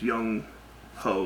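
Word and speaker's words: Younghoe: It's Young Ho, like Ho. H-O-E.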